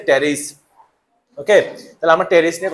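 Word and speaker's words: Pteris: বলতে পারবে না তাহলে এখানে কার জায়গা না পি এর জায়গা না তাহলে সে পিথা বলতে পারবে না ঠিক আছে এটা হচ্ছে টেরিস ওকে তাহলে আমরা টেরিস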